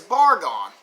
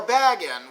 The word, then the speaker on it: Bagan: game, and that is Bargon, or Bagan, whichever way you want to say his name.